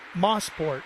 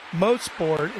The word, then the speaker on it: Mosport: And a lot of people thought that Mosport, the term Mosport, the name of the track stood for basically Mossport. And that's not the case. Mosport is a proper way to say, and it stands for motor sport.